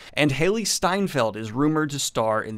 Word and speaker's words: Steinfeld: I always want to say her name, Haley Seinfeld, which is not right, and would be a very, very different show.